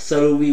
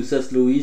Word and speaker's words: saslowi: Voilà, donc Lichenura trivirgata, alors saloui ou sasloui suivant la prononciation, voilà.